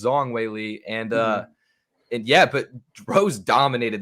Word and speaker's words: Zhang Weili: I've been pronouncing it Zhang. But apparently it's Zong Weili, and yeah, but Rose dominated those championship rounds, which is right.